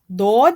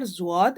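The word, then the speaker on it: ض: Dod is pronounced from the side of the tongue touching the roots of the top back teeth. It is noted here that this letter is neither Zwad nor Dod. Its sound is unique and it is Dod.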